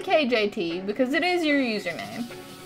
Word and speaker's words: KJT: I'm gonna mispronounce that a lot, I feel like, and say KGT. But it's, there's no G in there, it's a J. KJT.